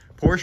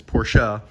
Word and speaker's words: Porsche: stuck with it now porsche or porsche the correct pronunciation is porsha but a lot of times i just say porsche but imagine this thing